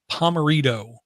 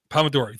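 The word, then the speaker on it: Pomodoro: a long time ago pomerito which I know I'm saying it wrong which is Italian for tomato Pomodori thank you where the goal of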